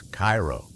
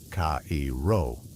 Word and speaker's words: Cairo: That's Cairo, not Cao.